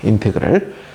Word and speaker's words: 인테그랄: 거예요 그래서 얘를 갖다 우리가 뭐라고 읽냐 인테그랄이라고 이렇게습니다 인테그랄 그래서 인테그랄 FX 그러면 이것은